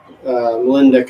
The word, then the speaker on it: Molendijk: Molendijk, I'm pretty sure is how you say it.